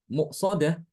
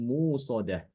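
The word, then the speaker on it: مؤصدة: Ini bacaan Ibnu Katsir bukan muqsadah tapi hamzahnya itu diganti dengan huruf wawu ya, wawu wawu sukun. Jadi bacanya alaihimu narum musadah. Alaihimu narum musadah. Bukan muqsadah tapi musadah.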